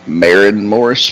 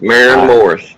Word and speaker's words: Maren Morris: then yeah she probably won worth worth knowing Marin Morris maybe maybe Marin Morris am I saying it